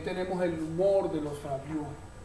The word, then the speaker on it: Fabliaux: sí, que se lee Fabliaux, esa es la pronunciación, Fabliaux, Fabliaux.